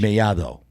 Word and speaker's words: Mellado: TH. Mellado is in Spanish. See? Yeah, that's what I'm saying. That's the correct pronunciation. Yeah, Mellado. Yeah. So the D's like a T. It's pronounced like a TH.